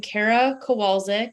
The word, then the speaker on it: Kara Kowalczyk: is your name and title and can you spell it for us please yes so i am kara kowalski i am a pediatric emergency medicine physician at